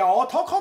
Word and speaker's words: 漢: こちらは漢字の漢と書いて男と読むというよ